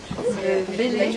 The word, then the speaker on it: Bélé: Bélé, est-ce que je prononce bien? Oui, Bélé, c'est ça.